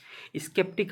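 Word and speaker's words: skeptic: स्केप्टिक आप पढ़ सकते हो इसको, सही प्रोनाउंसिएशन यही होगा। प्रोनाउंसिएशन मैटर करता है, क्योंकि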